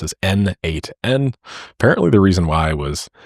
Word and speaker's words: n8n: It was written by the creator himself and he says that it means nodemation and it is pronounced as N8N.